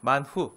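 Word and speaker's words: מן הוא: 네 감사감사 맞아요네 와우네 만후 히브리어로 발음하면 만후 만우가 만나가 된 거예요 만후 뜻이 뭐라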